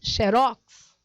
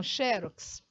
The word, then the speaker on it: xerox: é a última Então se ela é oxítona a sílaba tônica é a última e a última sílaba tônica você diz xerox e não xerox Então é isso acontece